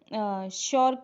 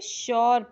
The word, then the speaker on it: sure: ठीक है, श्योर देखो SURE श्योर, यू के बाद RE, तो उसे श्योर नहीं पढ़ेंगे, श्योर नहीं पढ़ेंगे, उसे पढ़ेंगे श्यो, श्यो। आर जो होगा वो साइलेंट हो जाएगा।